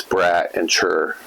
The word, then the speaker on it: Brattier: So I've always said when you spell it, it's brat and chur. Okay. I'm a brat and then chur.